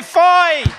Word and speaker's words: Foy: Foy, F-O-Y, ça s'écrit comme foi, comme sainte foi.